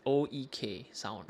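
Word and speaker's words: oeksound: Yeah, how do you pronounce that? OEK Sound.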